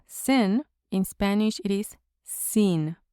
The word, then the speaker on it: sin: It's very similar to the English word, but the pronunciation uses a long e in Spanish. So, in English we have sin, in Spanish it is seen, like s e e n, seen. Seen. It is not sen.